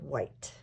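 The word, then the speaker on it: Whyte: And his name is spelled W-H-Y-T-E. David White.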